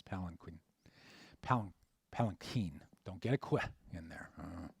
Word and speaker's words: palanquin: so you can say planckwind you know have fun but uh the international pronunciation which most people use is palanquin don't get it in